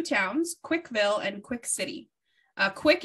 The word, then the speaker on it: CWC: Quick is spelled CWC, which stands for Christian Weston Chandler.